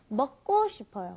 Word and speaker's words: 먹고: So anyway, for some reason, when you've got that K, the gyuk, followed by another gyuk, it ends up being a double gyuk most of the time. So it's not 먹고 싶어요, it's 먹고 싶어요.